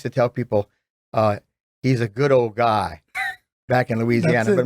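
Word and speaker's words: Goudeau: It's pronounced Goodo, but you did a great Goudea.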